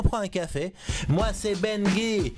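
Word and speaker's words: Bengui: Moi c'est Benguy, B-E-N-G-U-I, ça se prononce comme ça s'écrit.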